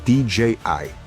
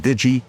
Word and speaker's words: DJI: It's a company called DJI. Some call it Digi, Digi, all these other ways they pronounce it.